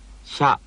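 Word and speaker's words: しゃ: In combination, with the ya written as a small letter, they form this syllable. しゃ、しゃ。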